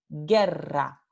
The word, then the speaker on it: guerra: Por ejemplo, la palabra guerra tiene esta letra U que no se pronuncia, porque la palabra se pronuncia G-E-R-A, guerra.